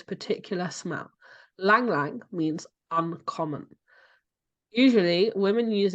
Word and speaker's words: Ylang ylang: always thought it was yolang ylang okay no the Y is silent the Y is silent so it's Lang Lang so if you think